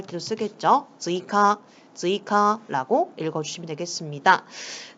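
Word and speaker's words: 追加: 즈이카라고 읽어주시면 되겠습니다.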